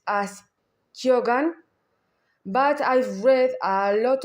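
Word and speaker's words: Keoghan: doctor himself pronounces as Kogan, but I've read a lot of Irish people is an Irish a proper Irish surname. A lot of Irish people is saying is pronounced Kan. So Kan.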